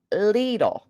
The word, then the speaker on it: Lidl: And she told me, like, needle, but Lidl.